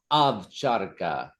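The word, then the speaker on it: ovcharka: Avcharka. An Armenian taught me how to say it properly. It's A-V. Instead of it's written O, but you pronounce it Avcharka.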